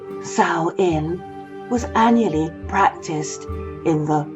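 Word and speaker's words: Samhain: For it is from these reaches of Britain, that a festival called Sain, pronounced Saoin, was annually practiced in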